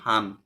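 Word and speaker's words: 한: short form হয়ে গেছে এটা যদি কোন কিছুর পাশে বসে তাহলে এটা হান হিসেবে উচ্চারণ হবে ঠিক আছে না টা থাকবে না নটা নিচে চলে আসবে তাহলে এটা হবে হান আমরা জানি কাপ গণনার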